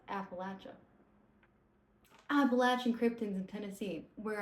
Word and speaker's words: Appalachia: Also, I used to say Appalachia and then I moved to Tennessee and everyone says Appalachia and apparently that's like the correct way to say it. Um, I don't know why I did air quotes. Apparently, that's the correct way to say it. So, for the people who don't know, it's Appalachia.